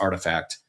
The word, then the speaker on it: RTFKT: How are you pronouncing Artifact originally?